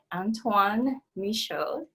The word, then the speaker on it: Antoine Michaud: his business okay so our guest today is antoine misho so would you please tell us a little